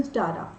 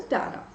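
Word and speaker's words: Tzara: दोस्तों हमारे सामने ट्रिजन स्टारा ठीक है या पे इसे रीजन सारा भी कह सकते हैं टी आप यहां पे साइलेंट कर सकते हैं आप अपने अकॉर्डिंग पढ़ सकते हैं आई विल रेड इट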